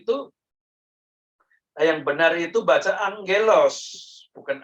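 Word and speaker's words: ἄγγελος: Dan dibacanya angelos, bukan agelos.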